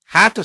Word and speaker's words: had to: D와 T는 소리가 비슷하기 때문에 한 번만 발음되는 경우가 아주 많습니다.